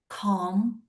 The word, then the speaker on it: calm: Calm. Okay. Calm. Calm. Yeah. Okay. Just give me a second. Calm. It means um C A L M, right? Mhm. K. M. L isn't pronounced.